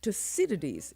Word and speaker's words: Thucydides: Did you learn to pronounce that word? Thucydides. Thucydides. Or Thucydides. Thucydides. Thucydides is the correct pronunciation.